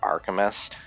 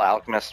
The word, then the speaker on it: Alchemist: Full Metal Alchemist um I used to pronounce it archist cuz I'm a dumbass I don't know why I was a dumb kid then but uh fil Metal Alchemist was such a freaking